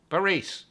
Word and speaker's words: Barese: And I'm sorry, I don't care how other people pronounce this colt's name. Barese. You remember Mikey Barese?